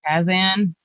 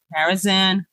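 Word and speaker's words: Karazhan: get a mount in what is it Kazan carazan carazan what oh I said it right this time when you you said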